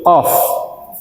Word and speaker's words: Qaf: Harfi huruf qof. Qof ngih. Huruf qf nggih. Nah. Membacanya wajib enam harakat panjangnya tiga alif. Mulo mboten pikantuk. Qof. Qof harus panjang tapi ringan.